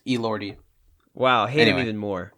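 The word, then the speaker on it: Elordi: it I hate him is that how you say his name I think so Roy no it's El lordy wow hate him even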